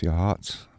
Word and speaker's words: Yachats: or uh we'll make it as far as yahats and if you look at how it's spelled it it sounds like it should be hatchets but it's pronounced jots by the folks who come from there live